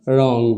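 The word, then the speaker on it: wrong: कहता है की अगर व के जस्ट बाद आर आए तो व का उच्चारण नहीं किया जाता है तो भाई इसका उच्चारण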